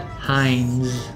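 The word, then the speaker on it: Heinz: Hines.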